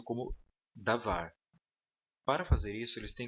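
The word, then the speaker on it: דָּבָר: O dages len, então, ele é utilizado com cada uma dessas letras aqui e ele somente fortalece a pronúncia da letra.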